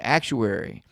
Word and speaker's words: actuary: and who um actually actuar act not an actuar actuary I've been saying it wrong for all these years but uh the most